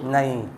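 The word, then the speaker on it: knee: नहीं, इसको जब हम लोग पढ़ेंगे तो यहाँ पर के का उच्चारण नहीं करेंगे, इसको भूल जाइए। अब बताइए नी। यहाँ पर के साइलेंट रहता है।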